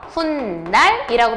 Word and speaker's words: 훗날: 자, 후 플러스 날. 발음할 때 어떻게 발음해요? 훗날이라고 발음하죠? 얘도 니은 앞에서 뭐가 덧났어요? 니은 앞에서 니은이 덧난 거죠?